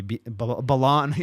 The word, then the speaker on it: Belan: You keep on calling me Belan, right? You're saying it right.